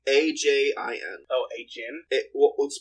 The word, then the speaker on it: Ajin: Oh, Ajin? Let's pronounce it Ajin, but yeah.